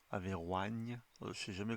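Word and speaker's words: Averoigne: volume de ses œuvres s'appelle Zotique Hyperbor et Averine Averign se prononce et c'est ça vient même de sortir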